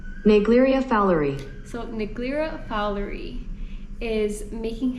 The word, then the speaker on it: Naegleria fowleri: Now before I butcher this name, this is how it's supposed to be pronounced. Naegleria Fowleri.